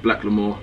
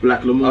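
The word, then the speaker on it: Blaque L'Amour: Yeah, Black L'Amour. I'm wearing it as well. I didn't know how to pronounce it. Black L'Amour. I bet like Black L'Amour. The black is spelled differently. It's B-L-A-Q-U-E. It's French.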